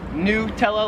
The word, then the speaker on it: Nutella: nutella americans like me i would pronounce this nutella like it's new nutella here in australia they pronounce it nutella like a yes not yeah nutella not nutella number six popular card